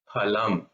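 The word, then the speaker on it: फलम्: Second is pa, phalam. Now I think in Hindi this second pa, the letter, I think they say F in Hindi, but in Sanskrit it's not F, it is phalam.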